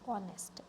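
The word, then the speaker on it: honest: हमारा silent letter कौन सा है? बी ऑनेस्ट। एच हमारा साइलेंट होता है।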